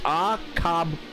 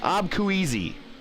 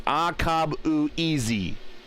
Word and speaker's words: Akabueze: So phonetically spelled for me for last name, it's Akabueze. Abkueasy. Abkueasy, okay. Abkueasy, yeah. So it's Akabueze. Yeah. Akabueze. Okay. I got it now.